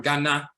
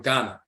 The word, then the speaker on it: Ghana: icon and he's from Ghana the person said I'm from Ghana and we will say Ghana because we're so used to in English if a word ends in a we pronounce it as uh because English is the